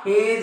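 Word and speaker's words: hedge: उच्चार होत नाही याठिकाणी हा हेडगे नाही हा हेज आहे हे हा वेळ नाही हा आहे वेज या वेज समजते तुम्हाला म्हणजे जी च्या अगोदर जर डी असेल असेल तर त्या जी चा उच्चार होत नाही ते जी अक्षर त्या शब्दांमध्ये सायलेंट असतं आणि जर आपल्याला नियम माहित नसतील 100% आपण असं वाचू शकतो एडगे ब्रीडगे हेडगे वेडगे अशा पद्धतीने आपण वाचन करू शकतो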